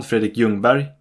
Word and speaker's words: Ljungberg: Bo Larsson, Kalle Svensson, Thomas Ravelli, Björn Nordqvist, Bengt Gustafsson, Fredrik Ljungberg. Yes, the L is silent.